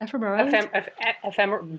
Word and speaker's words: ephemerality: So this question of flux and ephemerality, how do you say that? Ephemerality? Being ephemeral, ephemerality. I'm going to take a guess there, but the act of being ephemeral.